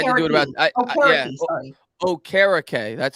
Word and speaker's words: Okereke: Okereke. That's how it's pronounced. Okereke. That's right. Okereke. Jake Arthur told me it's like carrot cake, so I should have remembered that.